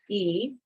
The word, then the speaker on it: y: and then we add the letter Y which is pronounced e and then we add the number four which is 34.